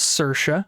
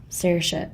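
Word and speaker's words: Saoirse: it was a k yeah her name is cersa that's how you pronounce I'm reading it sersa okay I would never have guessed that's how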